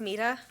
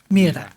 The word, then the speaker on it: Mira: It's pronounced Mira. Mira.